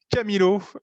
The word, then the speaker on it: Chamilo: de cheminots qui propose qui prononce camilo notamment parce que c'est comme ça qu on le prononce en amérique latine et en espagne chez milot camilo finalement elle joue alors